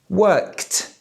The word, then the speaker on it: worked: This means that the ED after the verb is pronounced t. Worked.